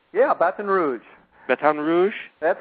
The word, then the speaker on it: Baton Rouge: you are you're in Bat Rouge did I pronounce that right yeah Baton Rouge batan Rouge that's how they say it batan Rouge Baton Rouge I'm I'm pretty good at Ling